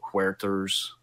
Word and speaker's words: Huerter: think would cut into Huerter's value. Sorry, I got to say it like it's a Hispanic name. He doesn't look Hispanic. No, he doesn't. But, that's just how you pronounce it. It's H-U-E, Huerter.